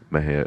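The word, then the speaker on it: Mexia: East Main Maha Texas Maha is spelled me x i a the ZIP code 7666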